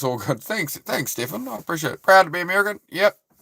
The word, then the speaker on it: Stefan: Because Stefan is Stefan, right? That's Stefan. Stefan. And it's Stephen, if it's spelt with the PH.